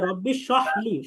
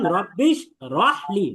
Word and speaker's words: رب اشرح لي: ربي رب اشرح لي দেখেন এখানে অনেকে যে ভুলটা করে, অনেকে বলে যে রব্বিশ সহলি, সহলি বলে, সহলি না, বরং রব্বিশ রহলি, রহ জবর রহ, এখানে আপনাকে রটা বলতে হবে। অনেকে বলে রব্বিশ সহলি, রব্বিশ সহলি, সহলি বলতে رب اشرح لي এখানে হবে রব্বিশ রহলি।